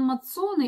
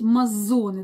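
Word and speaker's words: Mazzone: И мы с ним даже еще думали, как правильно сказать, Лоран Мацоне или Мазоне. И пришли к выводу, что правильно говорить Мазоне.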